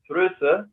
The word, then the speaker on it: Froese: a special guest thrusa um have i pronounced this correctly or at least am i correctly wrong that's fine that's how it sounds in german okay marvelous so